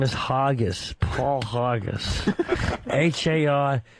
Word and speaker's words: Hargis: Yeah, my last name is Hargis, Paul Hargis. Hargius. The U is silent. Hargis. Yeah, Paul Hargis.